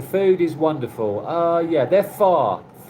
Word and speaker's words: pho: Yeah, they're far. It looks like it's spelt pho, but it's far.